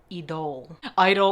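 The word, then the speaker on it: Idôle: This is the Lancome Idol or Idol if you're being fancy. I think Idol is actually the right way to say it based on the ad that I saw on television.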